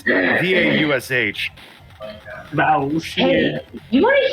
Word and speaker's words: Vaush: and prominent left-wing YouTuber Bausch. Bausch. I think it's pronounced Bausch. I don't know. It's Vaush.